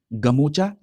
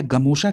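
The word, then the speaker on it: গামোচা: अगला देखिए, अगला टॉपिक है असमिया संस्कृति की पहचान गमोचा की जीआई टैग। याद रखिएगा, जो असमिया संस्कृति की पहचान है इसको गमोचा या गमोशा के नाम से भी प्रोनाउंसिएशन किया जाता है।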